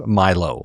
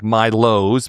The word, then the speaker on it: Mylow: I saw that you guys had announced Mylow. So it looks like Mylows, but it's spelled Mylow as a name.